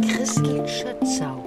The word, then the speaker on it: Christel Schötzau: Ja, herzlich willkommen, Christel Schützau. Ja, genau. Es ist richtig ausgesprochen.